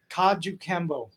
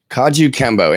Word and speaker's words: Kajukenbo: been there not too easy words to say Kajukenbo Kajukenbo and that's the Hawaiian one yes it's only